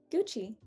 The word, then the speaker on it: Gucci: of italian brands uh this one is italian and it is a very italian sounding uh the u becomes a double o and that i becomes two e's so does anyone want